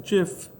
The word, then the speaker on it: GIF: as png um and some people pronounce it save as jif which is technically maybe more correct because the person who created it calls it that um don't click new